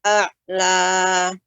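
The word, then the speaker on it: أعلى: Sabbihisma rabbikal a'la. Ya. Ainnya lebih ditampakkan lagi Ibu. A'la.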